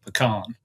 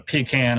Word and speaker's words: pecan: corre correct pronunciation of pecan. So, as my grandmother said, a pecan is what you take out back when the toilets broke. Um, we're going to say pecan, so I hope that